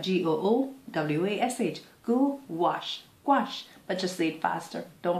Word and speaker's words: gouache: it's quick tips tips about gouache squash is pronounced goo wash wash so like g-o-o-w-a-s-h go wash gouache but just sleep faster don't bite your tongue